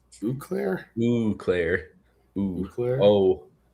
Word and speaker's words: Eau Claire: If it were Eau Claire, Michigan, we pronounce it Eau Claire.